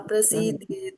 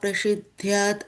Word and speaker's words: prasidhyed: Niyatam kuru karma tvam karma jyo ya akarmanaha śarīra-yātrāpi chate na prasidhyat akarmanaha Prasidhyed. This is E is there, so it won't be na prasidhyat.